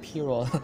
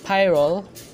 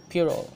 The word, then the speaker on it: pyrrole: colors are really popping out next we have pyrrole scarlet according to the online dictionary it's pronounced as Pierrot so although I hear Tyrell most of the time saying it's pure Oh scarlet next is permanent alizarin crimson next we